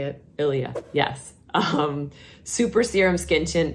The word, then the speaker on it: Ilia: Ilia.